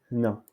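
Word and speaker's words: هنا: Hna. Donc ici, cette lettre prononce ha, hna.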